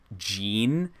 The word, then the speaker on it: Jin: playing through Tekken 7 the way they pronounce Jin they pronounce it Jean and so I think